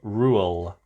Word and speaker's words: Reuel: Tolkien's name, it is John Ronald Reuel.